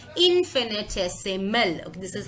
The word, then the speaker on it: infinitesimal: Now, if it is very difficult for you to pronounce this word, here is the pronunciation, infinitesimal.